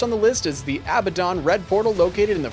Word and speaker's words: Abaddon: For Act 5, the first on the list is the Abaddon Red Portal located in the Frigid Highlands.